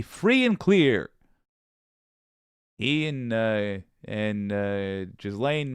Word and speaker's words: Ghislaine: He and Ghislaine Maxwell, Ghislaine, that's how it's said, jeez.